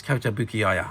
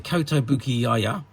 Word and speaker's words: Kotobukiya: I've never been 100% sure how you pronounce that, but it's Kotobukiya.